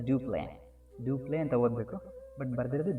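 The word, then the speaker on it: Dupleix: See, they have written like duplex, but we have to pronounce this one as duplay.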